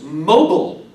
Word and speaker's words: mobile: uh everyone together is mobile and of course this gives you the accent on the first syllable again mogul my parents